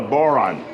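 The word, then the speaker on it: bodhrán: able to hear themselves this is called a boron it's one of those words that it's very important to hear it pronounced before you see it spelled CU it's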